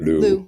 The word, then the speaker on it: Liu: So my last name, if I pronounce it 100% in Chinese, Mandarin, sounds like Liu. Yeah. But, you can just, call me Liu or Liu or, yeah, that's or fine.